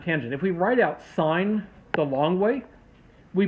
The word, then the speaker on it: sine: the actual ways we write the function for sine cosine and tangent if we write out sine the long way we pronounce it sine not sin because it actually